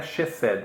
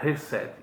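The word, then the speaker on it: חסד: Sempre que você encontra CH nas transliterações do hebraico, você pronuncia R, como se fosse R, resed. Não é chesed, é resed, como se fosse um R.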